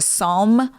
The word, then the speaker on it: Psalm: so it's yes and it's not spelled salty as all you kids out there spell it today in in sarcasm it's PSA L yeah like the Psalms yeah oh yeah yeah